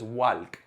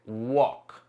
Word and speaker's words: walk: Esto no es walk ni walk. Se dice walk. Walk.